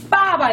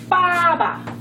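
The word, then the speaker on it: 爸爸: 근데 이거 같은 경우는 어떻게 읽냐면 빠바 이렇게 읽어요. 빠바. 비 하면은 원래 비읍 발음이라고 알고 있는데 이게 쌍비읍 발음도 나요. 대개 이 비가 이렇게 똑같이 BA 이게 빠바지만 이거는 빠로 읽고 이거는 바로 읽어요.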